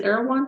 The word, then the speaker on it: Erewhon: Is Erewhon pronounced like that?